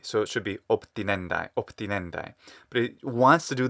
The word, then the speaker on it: obtinendae: One thing that stands out is he says obtinendae, and he says ob, and that syllable between is super throwing me off. Now a b in front of a th, so letter B in front of a letter T, will become a B sound, a P, that is.